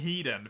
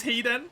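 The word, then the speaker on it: Hiden: it on the inside I don't know how to pronounce it properly and just saying heeden feels wrong CU I don't think that's how it's actually said so I just say hidden instead it is Heen oh my god I've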